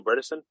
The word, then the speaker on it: Bredesen: really great guest dale bredesen he said his last rhymes with medicine which i think is